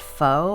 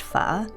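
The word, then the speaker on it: phở: someone asks where they can find the best foe i chuckle with dismay and my answer is always the same it's pronounced pha and the best place to find it is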